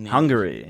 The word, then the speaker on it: Hungary: And then go to Unarn on how do you say Hungary?